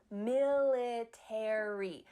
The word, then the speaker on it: military: In British English, they often cut out the A.